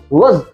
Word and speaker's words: was: वाज का उच्चारण होता है was, Riya was dancing, Riya was dancing।